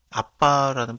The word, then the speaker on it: 아바: 마음의 가운데 보내사 아바 아버지라고 부르게 하셨느니라이 아바는 아빠라는 발음이라고 생각하면 될 거 같습니다 그러므로 네가 이후로는 종이